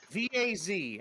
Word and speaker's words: Vaz: that guy doing then v-a-z I'm sorry I missed I'm mispronounced it Vaz with a V it is not the